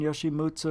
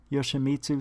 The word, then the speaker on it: Yoshimitsu: Coral Ann, Yoshimutsu, Ashikaga. Yoshimitsu, sorry I said it wrong.